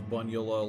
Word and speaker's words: Bunula: But yeah, it was like, I always thought it was pretty obvious because it was Bunula, like Dracula, but pretty much everyone who watched it would be like, Bunula, how do you pronounce this, Bunula?